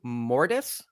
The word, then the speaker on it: Mortis: Am I pronouncing this properly? Mortise.